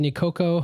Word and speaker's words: Nicoco: For people who don't know you, you are Sean Crowne and your partner, Ashley Campbell, co-founded Nicoco Hawaiian Gelato. Oh, that's right. Did I get all that right? Did I pronounce everything correctly?